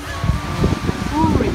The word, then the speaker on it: Woorim: understand at all, and it's really difficult to pronounce the W. I said Woorim Beach, but they didn't quite understand Woorim Beach .